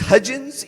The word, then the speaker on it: Hudgens: doblemente porque mi apellido es hudgens y como mi amigo y cubo mario dice es como los pañales huggies bueno la gente puede